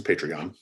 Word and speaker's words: Patreon: How do you pronounce that word? Patreon? It's Patreon. Sorry? Patreon.